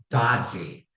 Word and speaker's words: DOGE: And I'd like to point out that's DOGE, which we could pronounce dodgy.